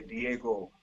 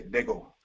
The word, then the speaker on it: Diego: Like we have one town that if you read it would say Diego, but people say Dego, when they're talking Dago.